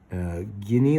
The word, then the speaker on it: Guinea: And then there is Guinea, like guinea pig, Guinea-Bissau.